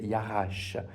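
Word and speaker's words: ירש: Et puis ça, c'est pas un W comme disait mon petitfils, c'est un chin, ça se prononce ch. Donc voilà, c'est Yarache.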